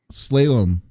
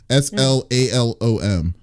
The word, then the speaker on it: slalom: like I don't what how do you say the word slayum slayum okay SL yeah s l a l o m interesting Oh you mean